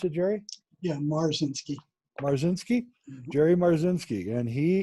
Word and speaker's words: Marzinsky: Is that how you pronounce it, Jerry? Yeah, Marzinsky.